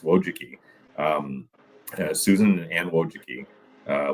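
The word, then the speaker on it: Wojcicki: So those children, the two Wjuki, their last name is Wojiki. Don't ask me to spell it, but it's pronounced Wojuki.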